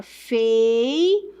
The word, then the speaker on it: feiura: Então, se eu falo aqui, ó, vou separar a palavra feiura. Veja que o U é forte, então é uma paroxítona, beleza?